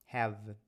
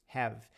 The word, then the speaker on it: have: pronuncia por isso que quando eu falo a palavra have eu paro no V have have e quando isso acontece